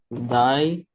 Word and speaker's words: die: He feminin adalah die dan neutral adalah das. Pluralnya adalah semua die. Plural pluralnya die di ya bacanya di bukan die di ya di.